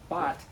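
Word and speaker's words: בת: But the interesting thing about the word daughter, which is bet tav, pronounced bat, it's not just a girl, a maiden, a daughter, but it means one deserving of.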